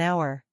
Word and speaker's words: hour: yang samar atau sililent We also use and before words that begin with a silent h for example an honor an honest man an hour Let's compare a n